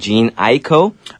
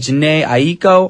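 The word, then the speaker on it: Jhené Aiko: featuring Chris Brown and Jean Aiko. Okay. That's how you pronounce that girl name. Is it a girl guy? It is a girl. Okay. Cuz I I was like Jana Aiko. I said the name wrong many times.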